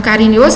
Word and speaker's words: carinhoso: Então, em carinhoso, a sílaba tônica é nho, então a pretônica é a que vem antes, é a que antecede a sílaba tônica.